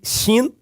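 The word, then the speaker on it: שׁ: E esta letra aqui também, que é bem legal, o Shin, que se o ponto estiver do lado direito, pronuncia-se Shin.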